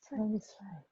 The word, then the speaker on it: satisfied: The stress should be on the first syllable. Satisfied.